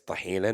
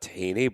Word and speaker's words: tahina: We call it tahina. Our pronunciation of it is tahina, not tahini, but tahini is completely American, and I butchered it.